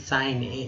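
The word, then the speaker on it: sign: संकेत, साइन, जी एन को ना बोलते हैं, एक्चुअली जी जो है साइलेंट है यहाँ पर, तो साइलेंट वाले वर्ड है, याद रखिएगा, ठीक है।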